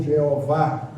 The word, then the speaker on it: Jeová: eterno glória a Deus o nome Jeová é transliterado de um tetragrama Y H w não tem vocal mas para se pronunciar se colocar o vogal Y H w h botar o a botar o e ficou I A V ou Javé ou Jeová e a a Bíblia